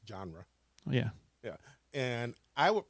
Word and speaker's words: genre: First of all, it's pronounced genre.